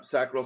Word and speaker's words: sacral: It's sacral? Is the right way to pronounce it, or sacral? Yeah, sacral chakra.